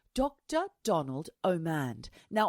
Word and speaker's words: Omand: Donald Omand. Now, I keep getting his name wrong. I keep thinking it's Orond, like Julia Orond, the actress from the 90s and the 90s.